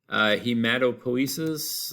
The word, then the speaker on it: Hematopoiesis: Hematopoiesis, let me spell it real quick. Hematopoiesis. All right, P-O-I is po, and then esis.